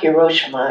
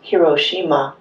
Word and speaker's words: Hiroshima: in a minute but in Japanese every every syllable is accented the same way so it's not Hiroshima it's hirosima is the correct pronunciation